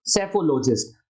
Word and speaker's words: सेफोलॉजिस्ट: यहां पर P silent है इसलिए शब्द कहा जाएगा सेफोलॉजिस्ट।